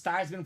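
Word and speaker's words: Theismann: your name to thyman so it's thyman for the Heisman now he was a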